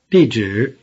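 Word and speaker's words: 地址: shoot dolly grr ha the word for address is DJ the first syllable has a falling tone and the second syllable has a low tone however a normal conversation the second syllable becomes neutral repeat address DJ DJ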